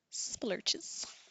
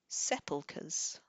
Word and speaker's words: sepulchres: Sepulchres. Suppose I could have guessed that. With a curs at the end. Chres.